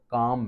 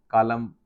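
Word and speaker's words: calm: काम में L silent है। हाफ में एल साइलेंट है। एल की आवाज़ नहीं आ रही है। यानी हालफ़ कालम वाला नहीं कहना।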